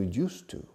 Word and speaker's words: used to: Imagine that word ends with a U. That's the pronunciation of two very important forms in English. The past form and a way of saying I am accustomed to.